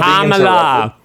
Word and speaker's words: Kamala: Like like Camala Harris supporting an agenda that's only going to benefit black men. Can you pronounce it correctly? It's Can I get a sentence out without Kamala?